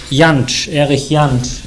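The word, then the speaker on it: Jantsch: The self-organizing Universe by yanch and we don't have a Blackboard it's spelled j-a-n-s-c-h yanchen it's called the self-organizing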